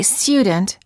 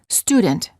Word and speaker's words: student: For example, don't say student, say student.